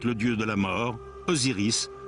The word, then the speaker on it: Osiris: À sa mort, le roi ne fait plus qu'un avec le dieu de la mort, Osiris, dont le nom se prononce Azar en ancien égyptien.